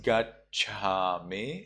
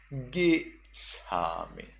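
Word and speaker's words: gacchāmi: Or when you have A followed by two consonants, then you do not read it as gachami in the Sri Lanka pronunciation. In Myanmar, you would read it as gisami. So from gachami becomes gisami. Remember that ja is becomes sa, but the a sound becomes I.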